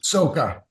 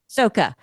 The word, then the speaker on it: Socha: Well, I also liked your nemesis in this, Michael Socha. Is that how you say his name? Soka. Soka. Yeah.